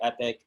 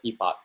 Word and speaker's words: epoch: so uh epoch so there's two pronunciations for epoch and epic so americans say epic uh canadians and and uh uk say uh epoch so i'm canadian so